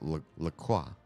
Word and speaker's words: LaCroix: In fact, the company who makes the seltzer water says LaCroix, it rhymes with joy, somewhere on their website.